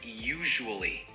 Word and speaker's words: usually: The word is usually. It has three syllables. U, shu, wol, li.